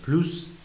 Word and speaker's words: plus: نو پلو، اس تلفظ نمیشه.